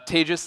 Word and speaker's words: Tejas: um my name is Tejas uh thank you for pronouncing my name correctly by the way that was awesome uh tages it's pronounced like contagious for those of you